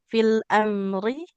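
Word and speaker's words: في الأمر: Fil amri. Ada yang dibaca panjang atau tidak, Ibu? Tidak. Enggak, huruf ro-nya nggak boleh panjang. Tidak fil amri, karena kasroh tidak bertemu dengannya. Iya, Kak Wa Sam.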